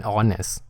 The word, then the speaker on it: honest: เมื่อ กี้ ก็ คือ ตัว H เนี่ย มัน ไม่ ออก เสียง พอ ไม่ ออก เสียง